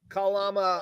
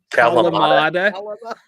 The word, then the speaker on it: Kalamata: I like the Kalama olives and the what olives? My wife makes fun of me. The Kalalama olives. Kalamata.